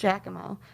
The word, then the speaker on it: Jackamo: It's spelled very strangely, not how we spell it. It's kind of spelled like Jackie Mac, but it was pronounced Jackamo.